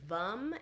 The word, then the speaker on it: Vam: So the seed sound of the sacral chakra is VUM. It's spelled VAM, but we pronounce it VUM.